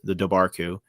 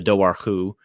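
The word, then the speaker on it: Dobhar-chú: subbed in for you, the Dobarku, or the Dowarku, as it's otherwise pronounced.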